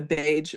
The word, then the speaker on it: Baje: then I started the beige brand so it's t h b AE brand so miss beige and the beige brand and beige sounds like the color but it's spelled b a j e so those are the